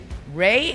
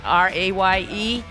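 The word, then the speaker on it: Raye: Ray is a girl from South London. No, Amy was from North London. And she just sang on the Grammys. If you haven't seen her, it's spelled R-A-Y-E.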